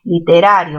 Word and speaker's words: literario: Literario, literario, mayor fuerza en gra, ¿verdad? A ver, literario tiene mayor fuerza en qué sílaba, en la sílaba ra.